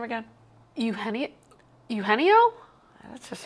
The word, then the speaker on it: Eugenio: Henio. Yeah, you got it. Now, as I really broke down the syllables.